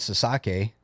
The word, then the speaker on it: Sasaki: in Japan and let's go to the great Sasaki first dirt bike kid did I get that